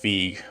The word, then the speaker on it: Feige: Like, when Kevin Feige or Feige, I think they said his last name is pronounced Feige.